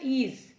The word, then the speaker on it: is: IS इज। IS इज को IS इस नहीं पढ़ते।